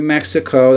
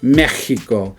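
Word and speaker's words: México: We have Mexico. That's how you say it in English, but in Spanish it's Mexico. So as you see right there, they put an sound right there on Mexico.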